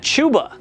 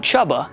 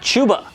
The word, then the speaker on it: Chuba: the crazy part about this one is that chuba not chubba has been on top of this whole thing